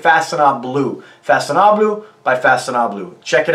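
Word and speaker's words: Façonnable: Now, I know I'm saying that right, 80% right, because I did check that out. Everybody else on YouTube saying it wrong to the best of my understanding. So Faconnable, Faconnable. It's almost like Faconnable.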